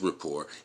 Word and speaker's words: rapport: And with rapport, anything is possible. R-A-P-P-O-R-T. Rapport. Rapport. I don't think you pronounce the T.